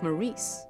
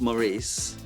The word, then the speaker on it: Maurice: depends who you ask if you ask Morris he'll tell you it's Maurice unless he's in the presence of death uh who will remind him his actual name is Morris it's Maurice anxiety we